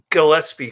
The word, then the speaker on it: Gillespie: Gillespie. Correct? Gillespie, you said it right. Not Gillespie, not That's true. Gillespie, Gillespie. Gillespie. Okay. I see. Gillespie just sounds way too easy, so it's Gillespie.